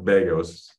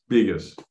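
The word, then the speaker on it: Begos: bigas he um and it's pronounced biggest by the way not Vegas biggest but um he he's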